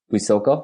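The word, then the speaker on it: Huitzuco: So when you were a kid, and you were born in Mexico, is it Huizoco? Is that how you say it? And Huizuco, yeah, Huizuco. That's correct, Huizuco.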